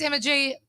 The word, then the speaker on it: Emma G: My name's Emma G. It rhymes with energy.